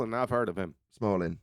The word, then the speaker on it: Smolin: I've heard of him Smalling is how you say it yeah well there you